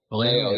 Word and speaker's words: Vallejo: Uh Boris Vallejo or Vallejo? Yeah, Valo.